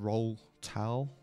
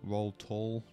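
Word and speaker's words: Roltall: The third boss goes by the name of Roll Tal, or Roll Tall, depending on how you want to pronounce it.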